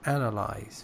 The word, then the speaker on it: analyze: It is analyze, first syllable.